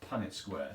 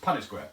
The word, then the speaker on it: Punnett square: Punnett Square. That's the correct pronunciation. So if my accent's been getting in the way, I apologise. Punnett Square.